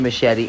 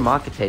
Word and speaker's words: machete: it's gonna be the machete and or a mocha tape depending on how you would pronounce it hawk's nest uh it